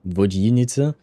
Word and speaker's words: Vodyanitsa: So for Vodyanitsa, you don't want to pronounce the ya. You want to pronounce it ye, I think. Vodyanitsa.